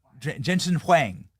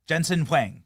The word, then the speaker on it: Jensen Huang: Jensen Hang. Jensen Huang. All right. Good pronunciation there, Clyde.